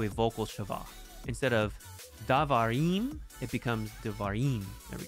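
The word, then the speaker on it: דבר: with davar for example the uh tonic uh syllable in the singular is var davar okay that's where the accent is it's last when you make it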